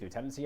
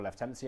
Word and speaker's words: lieutenancy: Authority areas Metropolitan counties lieutenancy areas or left tenancy areas depending how you want to pronounce it parishes words on how